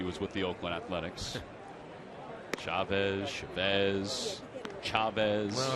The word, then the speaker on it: Chavez: Well, if you're going to pronounce it, in Spanish, it's Chavez. But I think he's Chavez, right? Yeah, I think he is. Although for a time I thought he was Chavez.